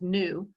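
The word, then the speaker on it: ν: this Greek letter here represents frequency which is pronounced nu a lot of times in physics lately they've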